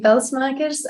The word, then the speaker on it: Pelsmakers: so by the way it's fantastic you actually pronounced my surname correctly so so pel smers um and I'm currently associate professor in sustainable